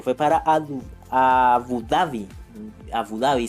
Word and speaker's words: Abu Dhabi: para a abu dhabi abu dabi se pronuncia dientes y se fue